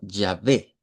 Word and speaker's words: Yahvé: nombre que, de acuerdo al hebreo, sería como Yahvé. Ese es el nombre, digamos, de Dios ya adaptado en estos pasajes. Entonces, en las Biblias, digámoslo originalmente, ese es el nombre que aparecía, Yahvé.